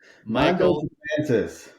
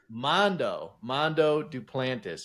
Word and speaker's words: Mondo Duplantis: Mondo Duplantis. Mondo Duplantis.